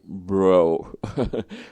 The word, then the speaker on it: Breaux: Christopher Lonnie Bro. It's written like Breaux, so I have no idea how to pronounce me neither, yeah. But I think it's like pro because it has like AUX on the end.